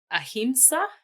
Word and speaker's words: ahimsa: You talked about the concept of ahimsa.